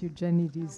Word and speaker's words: Eugenides: So I only learned to pronounce Eugenides today, because I thought it should be pronounced in the like a Greek surname, which it is, but not.